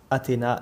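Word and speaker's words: Athena: C'est le temple d'Athéna, Nike ou Athéna Nike. En vérité, Nike ou Nike, ou dans la prononciation originale qui est Nike, donc en anglais le I se prononce I, donc ça se prononce Nike.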